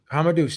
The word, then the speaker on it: Hamadouche: Is it Hamadouche? Hamadouche, that's correct.